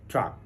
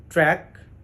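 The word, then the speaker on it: track: সময়েই এই ওয়ার্ডটাকে বেশিরভাগ মানুষ ভুল করে ভুল উচ্চারণ করে সেটি কেমন টি আর এ সি কে এটিকে বলা হয়ে থাকে ট্রাক বা টি আর এ সি কে আইএনজি এটাকে বলা হয়ে থাকে ট্রাকিং বা টি আর এ সি কে এটাকে বলা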